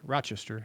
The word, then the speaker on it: Rochester: how you say it, by the way, it's Rochester, not Rochester.